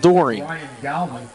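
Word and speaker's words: Doren: He pronounces it Dorian.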